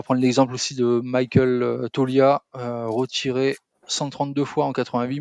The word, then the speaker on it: Toglia: Toglia Tolia Tolia Toglia c'est c'est comme toi qui appelle la famille Glia en italien quoi. Ou Jacques Kaglianoné hein non le G ne se prononce pas.